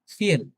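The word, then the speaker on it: viel: ফিয়েল অনেক।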